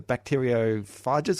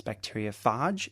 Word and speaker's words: bacteriophage: The bacteriophages or phages, how do you pronounce it? Well, this is a really interesting thing. Outside of America, it's bacteriophage.